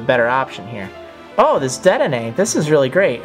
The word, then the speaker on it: Dedenne: Oh, this Dedenne, this is really great. Or Dedenne. Dedenne, that's right.